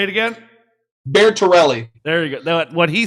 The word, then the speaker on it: Bertorelli: Bertorelli. There we go. Say it again. Bertorelli.